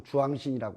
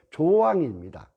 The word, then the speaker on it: 조왕: 공주에서는 조왕신이라고 잘 안 하고 주왕신이라고 하는데, 그건 뭐 이제 국외음악 형상이죠. 그 이제 된 발음을 싫어하는 조, 이렇게 주, 입을 편하게 하는 형태인데 주왕신이라고 하는데 조왕입니다.